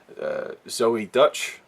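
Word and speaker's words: Zoey Deutch: Zoe Dutch, that's how you pronounce her name, Leah Thompson's daughter, great in this film.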